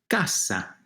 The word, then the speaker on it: casa: Hear that? Casa, second to last syllable.